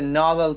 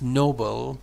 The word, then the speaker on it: Nobel: Who would have predicted that our pedestrian colleague would one day win the Nobel Prize for medicine? It's Nobel, not Nobel. Nobel Prize.